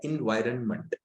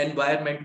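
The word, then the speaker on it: environment: अब देखो इसको बोलते हैं इन्वायरमेंट, इसकी जो सही प्रोनाउंसिएशन है वो है इन्वायरमेंट, लोग एनवायरमेंट बोल देते हैं।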